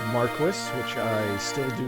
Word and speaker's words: Marquis: I've learned that it is pronounced Marquis, which I still do not like, but I guess I'll have to roll with it.